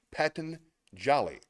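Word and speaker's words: Patanjali: of inspiration and it's by patan jali that is spelled p a t a n j a l i Paton Jolly when you are inspired by some great purpose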